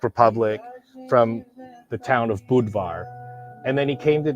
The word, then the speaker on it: Budvar: to use the word budvar which is like more of the Czech pronunciation um and Budweiser tried